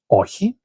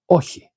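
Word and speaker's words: όχι: And then we have the no, and the no is ohi. Ochi means no. Ochi. Ochi. Now the chi might be a little difficult to speak.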